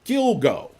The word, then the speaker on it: Gilgo: it so I told not Alura like he rhymes with dildo Gilgo Gilgo Beach Slayer and I'm not I'm not giving